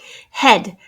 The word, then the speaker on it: head: is an interesting spelling red and head have the e a which is often a long e sound in this case it's making a short e sound would i would go